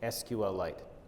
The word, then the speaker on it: SQLite: richard hip be the creator of sequel Lite on a YouTube video this is the supposedly the the correct pronunciation SQLite now that's great I respect and admire dr.